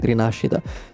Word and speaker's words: Rinascita: also Cantarella's role in Rinascita. Because, yeah, in Italian it's Rinascita, I'm sorry, I won't say Rinascita, it's too weird. Even the Chinese devs did their best to pronounce it Italian way.